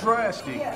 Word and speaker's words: Draxtik: It's Draxtik, but I spell it different because I'm unique like that.